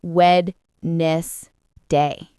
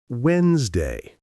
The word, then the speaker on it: Wednesday: I used to say wedness day. That's very common. But the correct way to say it is Wednesday.